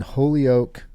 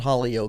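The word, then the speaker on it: Holyoke: Bal Neil B Neil in holy o Colorado not not Hol o which I kept saying holy o yeah Ken has sometimes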